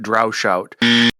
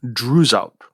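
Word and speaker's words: Droeshout: in this podcast incorrectly I think I've been pronouncing it drout and uh I just checked with the folder Shakespeare Library and I think the more correct pronunciation should be Drew out and so uh I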